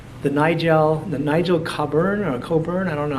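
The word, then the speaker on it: Cabourn: the nigel the nigel coburn or coburn i don't know how you pronounce his name copper caborne nigel caborn i think is pronounced he produced a couple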